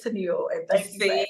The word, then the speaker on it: Toneal: Because I was like, I don't want to mispronounce her You are name. fine. You are fine. Oh, girl, I get everything from toenail, tonal, See, like everything. Yeah. So no, it's Tennille, and thank you for see, and asking.